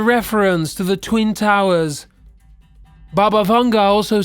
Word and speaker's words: Baba Vanga: “Baba Vanga [“Bah-bah” “Vaughn-gah” (pronunciation video here): Baba Vanga was a blind prophet born in modern day Bulgaria in 1911.